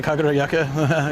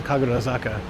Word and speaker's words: Kagurazaka: Sorry, I did say Kaguroyaka. Oops. I'm sorry about that. Kaguro Zaka. I was saying it right before Saka's hill, so it would make sense. Kagura Zaka. Yaka doesn't mean anything, I don't think.